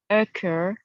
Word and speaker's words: occur: for uh blur sir occur prefer dessert hair were nice try this word again it's occur occur right we want to stress the ER so it's a cur like that occur one more time